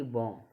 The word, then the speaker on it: bomb: Example बहुत ही महत्वपूर्ण होते हैं, जैसे BOMB, यानी कि बॉम। जैसे वर्ड क्या बोला, BM के बाद आ तो बी साइलेंट होता है, यानी कि BM के बाद आ रहा है तो बॉम्ब हो गई।